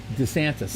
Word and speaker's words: DeSantis: But he gets DeSantis, is that how you say his name, from Florida? Governor? DeSantis.